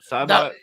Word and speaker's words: Saibot: Cybot?